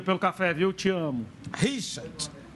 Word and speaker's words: Richard: Richard. Você tem que pronunciar o D. No caso do Richard aqui lá dentro. Richard.